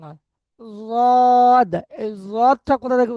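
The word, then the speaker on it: ضاد: জদ, এই জদটা কোথা থেকে উচ্চারণ করবেন? জিভের কিনারা এবং মাড়ির দাঁতের মাড়ির উপরের দাঁতের গোড়ার সাথে লেগে, উপরের মাড়ির দাঁতের গোড়ার সাথে জদটা উচ্চারণ হবে।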